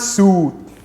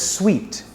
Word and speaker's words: suite: has everything i need it's not su it's pronounced as sweet like sugar is sweet juice juice